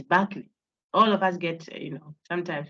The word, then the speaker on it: Berkeley: This name is Berkeley. You pronounce the ER as if you are saying AR. Bar. So it's Berkeley.